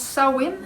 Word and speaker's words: Samhain: de laurent et la faille sismique païenne de samhain bon sac si crise amène comme comme ça mais ça se prononce sa wind cette femme c'est la première des quatre grandes